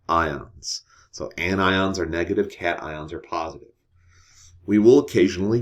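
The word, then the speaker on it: cation: The technical name for a positive ion is called a cat ion, like meow cat, right?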